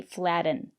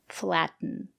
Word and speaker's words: flatten: kitten written flatten and that's why we don't say flaten you use it to flatten your pastry we say flatten today we're practicing the